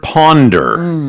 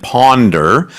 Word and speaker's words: ponder: Well, that word ponder, it sort of sounds like and looks a bit like the word wonder. Yep. Although the pronunciation is slightly different, English being what it is, wonder and ponder.